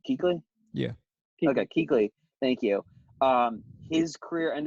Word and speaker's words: Kuechly: star athlete again Luke Kuechly I can never pronounce their name right he's he's like Kuechly yeah I got Keighley thank you his career and it's so short